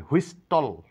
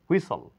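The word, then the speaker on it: whistle: ক্যাসল এখানে ঠি এর কোন সাউন্ড নেই এখানে হুইস্টল নয় এখানে ঠেয়ার কোন সাউন্ড নেই হুইসল থিস্টল না থিসল কাটাকাটি বিশেষ বাসল তাড়াহুড়া করা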